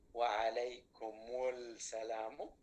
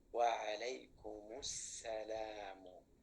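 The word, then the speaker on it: وعليكم السلام: So whenever we have a word starting with sin, the lam is silent, and the category is the sun letters. Assalamu alaikum. Can we say wa alaykumul salamu? Definitely cannot, and therefore we say wa alaykumus salamu. Wa alaykumus salamu.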